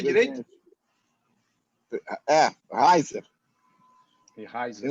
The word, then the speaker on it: Reiser: Pronunciei direito? Reiser.